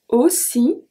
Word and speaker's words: aussi: Aussi. So AU make the sound O, soft O.